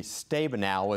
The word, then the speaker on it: Stabenow: Debbie Stabenow is the way her name is pronounced, but when you look at her amendment,